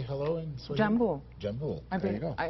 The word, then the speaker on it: jambo: Jambo. Jambo. There you go. I hope for a Swahili teacher will pronounce it wrong.